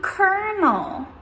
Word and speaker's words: colonel: We pronounce this one colonel.